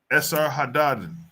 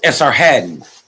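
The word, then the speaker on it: Esarhaddon: Now here, right here, the first exile of return was to of Samrian resettlement was under this dude, Esser Hadaden.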